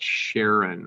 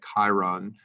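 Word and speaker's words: Charon: So the large moon is called Sharon, or some people say Chiron. But if you ask the person who named it, you'll find out that he named it Sharon, but he pronounced it differently than it's supposed to be pronounced after his wife Sharon.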